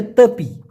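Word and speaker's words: tepi: আরেকটা কথা কিন্তু মালয়েশিয়ান ভাষায় আছে সেটা হচ্ছে তপি টি ই পি আই উচ্চারণটা হলো তয়ে কার পয়রশ্মি তপি এই তেপি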